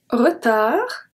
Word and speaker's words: retard: Je serai sûrement en retard. Retard. So the D is silent.